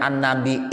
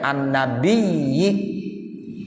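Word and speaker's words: النبي: Allah subhanahu wa ta'ala WA tarkey atau ditinggalkan enggak pakai Hamzah eh jadi boleh bacanya an-nabi e ada bacanya Anne byj boleh Hai wow aksaro namun yang paling banyak tidak menggunakan Hamzah ya pakai ya ya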